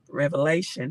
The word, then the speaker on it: Revelation: tokens mention in Revelation Revelation did I say it right I had to make sure I don't say it with the s in Revelation um 13 and 17